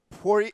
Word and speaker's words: Poirier: All right, give me the official pronunciation. Vincent Poirier.